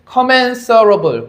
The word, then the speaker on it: commensurable: 상품을 commensurable, 발음 조심하세요. sure 아니고 surable.